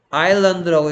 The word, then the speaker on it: island: 얘를 어떻게 읽어야 되던가요? 뭐라고요? 아일랜드라고 읽어야죠. 아일랜드, 아일랜드. 그러면 어느 글자가 소리가 안 나요? S가 소리가 안 나는 거죠. 이런 걸 보고 뮤트라고 한다 했습니다. S는 소리 나지 않는다.